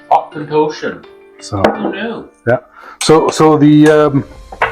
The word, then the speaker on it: Auchentoshan: box here it even tells you how to pronounce it Osan Osan so new yeah so